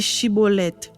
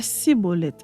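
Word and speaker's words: Schibboleth: il lui disait alors et bien dit chibolette et il disait siibolet car il ne pouvait pas bien prononcer sur quoi les hommes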